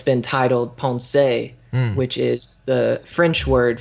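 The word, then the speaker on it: Pensées: exactly okay and in ponse or as the Anglo pronunciation some people just say pen sees there's a section there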